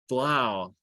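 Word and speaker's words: Blough: Yeah, it was David Blau or Bluff. That's right, Blau. Was he a Blau or a Bluff? I don't remember the pronunciation. Blau, David Blau, Desmond Ritter.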